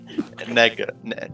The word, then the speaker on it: Nega: Nega. Shut up. Sam, you made it. How do you pronounce it?